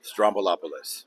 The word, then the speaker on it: Stroumboulopoulos: Now, first of all, I'm sure we all mispronounce your name, so give me the correct pronunciation. I'm sure everyone messes it up. Strombolopoulos.